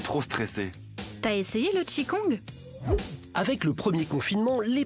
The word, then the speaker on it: Qigong: D'abord, Philippe Juge, vous êtes enseignant de Tai Chi Chuan et de Qigong, je le prononce bien.